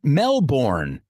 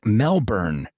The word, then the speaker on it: Melbourne: word Melbourne wrong my whole life I always pronounced it Melbourne but it's more like Melbourne live and learn Melbourne became one of the world's biggest and wealthiest